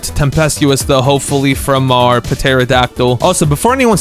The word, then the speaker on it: pterodactyl: We're about to get tempestuous though, hopefully from our pterodactyl. Also, before anyone says anything, I know the P is silent, but it just sounds funnier, you know?